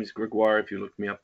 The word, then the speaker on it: Grégoire: before I butcher your name how do you pronounce that the full name is Gregoire Gregoire french-canadian I go by Greg I go